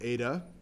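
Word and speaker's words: eta: the Greek letter Ada ET t a is pronounced Ada so Ada is the velocity uh viscosity sorry the viscosity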